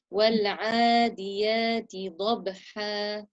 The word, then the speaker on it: والعاديات ضبحا: Once more, pronounce the ain from the middle of your throat. وَالْعَادِيَاتِ ضَبْحًا. Your dad was beautiful. وَالْعَادِيَاتِ ضَبْحًا. والعاديات ضبحا. Okay, 1 second. So you pronounced the ain perfectly this time, except you've given it a lifted quality. You made it sound like huruf al-isti'la. Don't lift it.